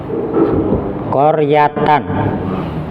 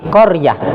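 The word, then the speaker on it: قرية: Koryatan. Nah, ini kalau berhenti jangan dibaca koryata, tapi koryah, kembali ke hukum asal, dimatikan, disukun. Hanya taknya berubah menjadi koryah.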